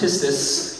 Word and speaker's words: pistis: The ancient Greek word is pronounced pistis.